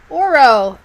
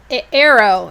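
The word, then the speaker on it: Aro: up in my library oro arrow sorry arrow arrow knits in pearls a-r-o arrow arrow i gotta pick the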